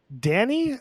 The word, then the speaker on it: Danny: Let's talk about Danny. Is that how we want to pronounce her name? Danny? That is how you pronounce her name. Not Donnie. That's how she pronounces her name.